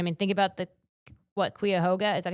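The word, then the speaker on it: Cuyahoga: Quuhoga, is that how you say it? Kyoga.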